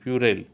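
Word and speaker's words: puerile: तापरे आपनकर प्यूरेल रो correct pronunciation हे जिवो पी यू ई आर आई एल ई प्यूरेल। Then आपनकर डसिल रो करेक्ट प्रोनाउंसिएशन हे जिवो आपनकर डी ओ एल सी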